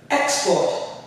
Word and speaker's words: export: We have an export, an export, an export. Right? The X is stressed, the port is not as stressed, right?